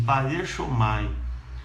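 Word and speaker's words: παρέρχομαι: Passar por é uma palavra grega, no grego, que pronuncia assim, parechomai.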